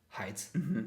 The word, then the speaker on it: height: need to calculate it heights yeah every day oh yeah so don't don't pronounce this word word wrong in the future okay everybody I beg you yeah height yeah height height so everything is done